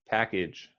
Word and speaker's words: package: package that was great package yeah that it sounded like you pronounced this correctly uh just as a note the second a sounds more like a an eye like a schwa like package package package